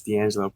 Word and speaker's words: Deangelo: Yes, Deangelo. Pronounced pretty well, too.